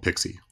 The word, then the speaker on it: PXE: get into something called pixie booting or pxe all right so I made you a presentation I hope you like it about pxe pronounced pixie which stands for pre-boot